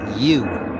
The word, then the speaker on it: YHWH: Now YHWH is pronounced you, like I always say. You can sound out the Y and the H, and you'll get yeah. Add the WH sound, woo, you get you.